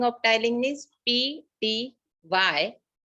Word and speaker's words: ptyalin: is also called as ptyalin. The spelling of ptyalin is P-T-Y-A-L-I-N. The P is silent, so we call it as ptyalin.